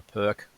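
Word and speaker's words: Pirc: um a modern or a perk um or piss or depending on how you pronounce it but um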